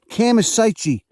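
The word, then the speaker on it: Chamaesyce: formerly in the genus camisites kamasichi uh if you're italian if you want to pronounce that c with a with a chat but look at it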